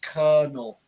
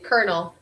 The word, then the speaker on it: colonel: or the second o it's kind of the ER sound all right luckily this